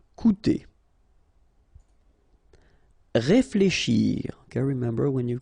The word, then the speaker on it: coûter: Okay, keep in mind that even if you've got this accent circonflexe on the top of U, it doesn't change the pronunciation, so it doesn't change this combination of two vowels here, so it will be OU, okay? Coûter.